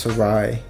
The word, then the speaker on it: Sarai: I'm pretty sure it's pronounced Sarai Olvera, but she just told me to say it like Sarah, so whatever.